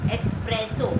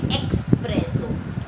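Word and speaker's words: espresso: Kind of a coffee, एस्प्रेसो. हम कभी कभी उसका गलत जो प्रोनंसिएशन है वो क्या करते हैं, एक्सप्रेसो. एक्सप्रेसो नहीं है, उसमें कहीं भी एक्स नहीं है.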